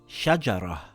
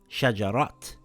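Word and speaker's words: شجرة: its own, for example this word reads shajara and not shajarat or this word reads fatima and not fatimat.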